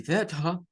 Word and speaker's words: better: Pronunciación estándar, better, con el sonido de la R al final, de esa como ER al final, pero que suena el schwa, better.